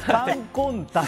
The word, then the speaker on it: 甘金丹: かったんですが、カンコンタンと読みます。